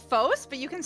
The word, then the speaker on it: Fos: Well, it it comes from the Greek the Greek word for light which is pronounced fos.